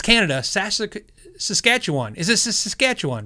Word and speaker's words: Saskatchewan: want to trigger him i say saskatoon and so you know i'm not mispronouncing it well i am but it's from the adam sandler movie grownups right when a guy said that weird like that so anyway saskatchewan i'm